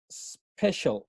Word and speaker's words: special: Entonces, si se fijan, este special se pronuncia special. No hay un sonido de E aquí en esta pronunciación. Special. Empieza con el sonido de la S.